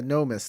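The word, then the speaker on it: Nomis: Yeah, Nomus. That's right. Nomus, like the bad guys from My Hero Academia. Nomus, like the word Simon backwards, because that's how it's spelled here.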